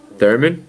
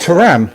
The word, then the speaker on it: Thuram: Am I not saying his name right? I'm terrible pronouncing names. Thuram, Lillian Thuram. Yeah, that would be it.